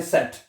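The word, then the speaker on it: Zett: जेड को अभी कहते हैं सेट।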